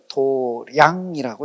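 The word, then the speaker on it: 道場: 그래서 이걸 이제 불교에서는 몸보다는 마음, 그래서 절에서 읽을 때는 뭐라고 읽어요? 도량이라고 읽어요. 사찰을 도량이라고 이름할 때는 한문은 저렇게 쓰고 도량이라고 읽어요.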